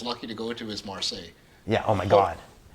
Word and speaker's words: Marseille: Marseille.